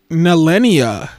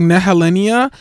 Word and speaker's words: Nehelenia: Our 8th queen is Nehelenia, which Ru says her name like Nelenia, and I say it like Nehelenia, and I just like Nehelenia better.